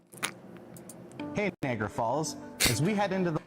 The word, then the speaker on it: Niagara Falls: This is why you don't say whatever he just said and you say Niagara Falls.